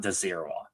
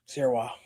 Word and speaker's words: Dzierwa: Yeah, and quick note: the D in his last name is silent, so it's Dzierwa, not Dzierwa. Dzierwa.